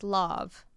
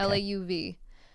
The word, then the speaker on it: Lauv: So I think the singer's name is pronounced Lauv. Okay. Lauv.